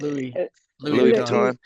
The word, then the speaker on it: Louis Vuitton: Louis Vuitton.